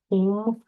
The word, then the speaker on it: ओम: मैं आपको सिखाने वाली थी कि ओम का उच्चारण कैसे करते हैं ओम ओम वाइब्रेशन ओम की जो ध्वनि है यह